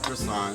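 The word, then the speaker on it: croissant: when you say the word crossan you don't need to say the T ano na quason kwa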